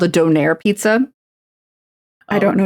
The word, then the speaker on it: donair: Yeah, I've been told it's donair. Yeah. No. I'm not saying doner. That's wrong.